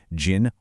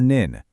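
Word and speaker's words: 人: That in sound reliably, dependably transforms into jin or nin.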